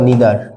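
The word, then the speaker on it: neither: কি বলতো দেখি ইচ এভরি আইদার অথবা ইদার একটা বললেই হলো অথবা নাইদার অথবা নিদার একটা আমেরিকান স্টাইল আরেকটা হচ্ছে আমাদের ব্রিটিশ স্টাইল উচ্চারণের দিক থেকে ওটা কোন সমস্যা না ওকে এবং দেন হচ্ছে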